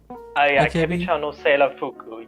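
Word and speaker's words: 明日ちゃんのセーラー服: Akebi-chan no Seirafuku, yeah.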